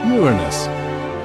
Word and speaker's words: Uranus: People tend to make jokes with its name, but it's actually pronounced Uranus.